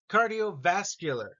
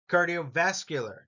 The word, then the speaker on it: cardiovascular: please repeat after me cardiovascular notice it's vascular is is the emphasis here cardiovascular stretching Athletics competition stamina